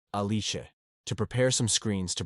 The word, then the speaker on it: Alice: his genius secretary Alice in Japanese with an Italian pronunciation aliche to prepare some screens